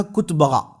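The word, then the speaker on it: Kitbuqa: और उनकी लैंग्वेज में इसका अलग प्रोनाउंसिएशन है। अरबी में यही प्रोनाउंसिएशन जो बता रहा हूं मैं आपको। इसका नाम था कुतबगा।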